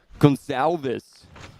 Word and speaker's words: Gonçalves: Gonçalves is Portuguese, so it would be like Gonçalves.